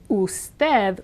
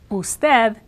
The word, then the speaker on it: usted: the word for example in the word usted which is the polite professional way to say you usted it's always an uh sound never a u sound another word which illustrates